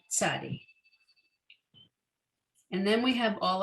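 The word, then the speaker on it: צ: And then the new letter tzadi, the TZ, tzadi.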